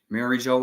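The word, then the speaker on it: Mary Geoise: Let's look it up real fast. Hold on. We have to go look this up. Mary Joal? I think it's Mary Joal. Yeah. I can say it in my head, but when I'm pronouncing it, it comes out different.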